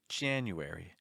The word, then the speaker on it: January: For instance, in the word January. January. Do you hear how heavy that first syllable is? Jan. All the other syllables, you wary, you wary. It's like taking a step down every time.